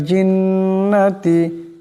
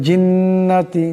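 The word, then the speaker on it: الْجِنَّةِ: করে পড়তে হবে মিনাল জিন্নাতি জিম জিমের উচ্চারণটি জিহ্বার মধ্যবর্তী স্থান থেকে হবে জিন্নাতি এমন করে পড়া যাবে না জিন্নাতি এমন পড়েন যার উচ্চারণ হয়ে যাবে শুদ্ধ হবে না ভুল হয়ে যাবে মিনাল জিন্নাতি জিন্নাতি মিনাল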